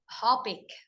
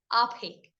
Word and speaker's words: OPEC: This is an acronym because it's pronounced as one word, OPEC. OPEC.